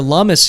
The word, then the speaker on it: Lummis: Lummis, by the way, I've been mispronouncing her name. I only found out just this week that it's Senator Lummis, not Lummis.